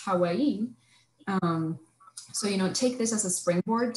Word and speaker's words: Hawaii: like someone from Hawaii, which I have learned that it's supposed to be pronounced Hawaii.